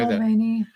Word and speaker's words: Mulvaney: Mulvaney.